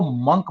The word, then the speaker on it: monk: जो लोग थे उनको मंक बोला जाता, मंक। कुछ लोग सर इसके मॉन्क या प्रोनाउंसिएशन फिर मंक? मॉन्क करते हैं, मॉन्क नहीं होता, मंक होता, मंक, MONK, मंक।